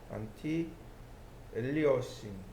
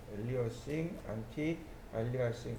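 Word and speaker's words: anti-aliasing: 여기 안티 알리싱이라고 하는, 안티 아, 알리아싱 혹은 엘리에싱이라고 읽기도 합니다. 안티 엘리어싱, 안티 알리아싱 이렇게 읽어요.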